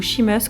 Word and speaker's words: Seamus: magique des les pro-cnt dont un personnage s'appelle sheamus mulhouse en effet si mu sept ans après non irlandais ils se prononceront quoi qu'il arrive il y meurt et nancy michaud sheamus comme dans le film irlandais que je vous